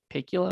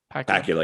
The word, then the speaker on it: Pakula: Pakula. I think that's how you say his name. Pakula. Yes. Pakula, yeah. Produced by John Bornstein, Michael Britton, and Walter Kublitz.